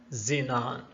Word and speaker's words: xenon: And finally, X can be pronounced as Z like in Xerox, Xelim, and Xenon.